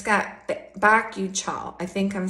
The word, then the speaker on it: bakuchiol: And it's got bakuchiol.